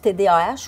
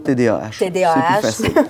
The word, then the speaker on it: TDAH: mais dans le fond est-ce qu'on prononce Tdh ou TDA avec ou sans ou personnellement pour simplifier je dis toujours Tdh merci alors on on